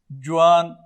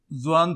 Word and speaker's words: ځوان: داسې نور لفظونه چې زه دلته ورسره لیکم، جوان چې فارسي یا اردو جوان دی، او نور پښتانه زی سره ځوان تلفظ کوي، نو په زیم سره بیا لیکو ځوان.